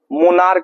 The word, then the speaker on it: monarch: एक मोनार्क होता है, MONARCH, मनार्क, मनार्क का अर्थ जो होता है सम्राट या राजा होता है, सम्राट या क्या होता है, राजा।